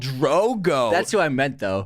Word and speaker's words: Drogo: it's the boston accent you said drago instead of drogo drogo okay and then